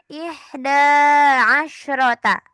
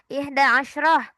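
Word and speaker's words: إحدى عشرة: Nah, yang pertama adalah ihda asyrota. Oke, itu artinya adalah 11. Lihat dari asyarohnya. Asyarohnya dia ada tak marbutohnya ya, maka dia mu'annas. Ihda asyrota. Oke, ihda asyroh. Gitu bisa dibacanya ihda asyroh.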